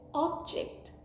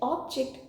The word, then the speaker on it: object: next word is this one of the pronunciations is object meaning a thing she plays the ancient object carefully on the Shelf the second pronunciation for this word is object who hasn't heard the famous classic line in Cod Room dramas I object your which means to disagree the next word is